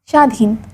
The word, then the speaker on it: স্বাধীন: বর্ণের উচ্চারণে স্বতন্ত্র আছে শব্দের আদিতে ব ফলার উচ্চারণ হয় না যেমন তক শশুর স্বাধীন শব্দের মধ্যে বা শেষে বফলা যুক্ত হলে সেই ব্যঞ্জনে দ্বিতীয় উচ্চারণ হয়।